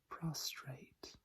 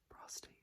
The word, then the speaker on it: prostrate: Prostrate. Prostrate. Not prostate. You would not go for a prostrate exam. You go for a prostate exam.